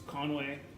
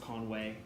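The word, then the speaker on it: Conwy: So it's Conway. It's spelled C-O-N-W-Y, but it's pronounced Conway, and it's definitely in Wales, not in England.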